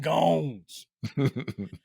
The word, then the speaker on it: Gones: Yeah, it rhymes with Jones. That's right. Hello, my name is Brendan Gones.